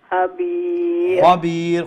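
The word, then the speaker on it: خبير: الله إن الله لطيف খবীর খাকে একটু মোটা করে উচ্চারণ করতে হয় যেহেতু খা হচ্ছে গিয়া হুরুফে মুস্তাআলিয়া অর্থাৎ মোটা অক্ষরগুলো হ্যাঁ ঠিক আছে জি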